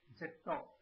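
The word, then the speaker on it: ジェット: Jet is another modern English term. This is pronounced as jetto. Here, J-E is required, and this sound is formed from J-I and A.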